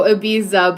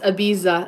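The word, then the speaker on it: Ibiza: Oh, abiza, but it's abiza. Abiza. Abiza. The lisp thing happens there, right? With the z.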